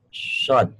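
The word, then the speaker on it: ص: Kalau mengucapkan sod, kenapa? Saya melumat bibir. Karena harus basah. Kalau bibirnya kering, shodnya kurang. Shod.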